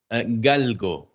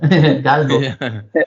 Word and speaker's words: galgo: Galgo. G A L G O. Oh, that's easier than Greyhound. Galgo.